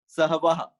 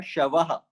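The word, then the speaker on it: श्वः: That will be Sahavaha. So actually not Sahava, Shavaha.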